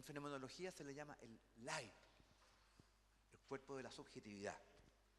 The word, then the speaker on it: Leib: El otro es Leib, L-E-I, B larga, y ahí no se puede traducir, ¿se da cuenta?